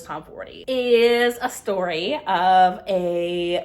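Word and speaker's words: Tomforde: right move by Liz Tom 40 I'm going to say Liz Tom Ford but I think it's Liz Tom fory is a story of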